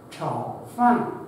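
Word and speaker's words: 炒飯: でこれ中国語で発音しますとチャーファンと発音します。このチャーファンが日本語に入ってチャーハン、元中国語です。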